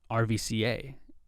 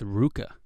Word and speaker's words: RVCA: that uh rvca the clothing line is not pronounced rvca it's pronounced ruka you guys ever do you guys know that